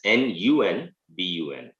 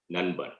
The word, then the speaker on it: Nanban: Even though it is written as Nanban, it is pronounced as Nunbun, Nanban.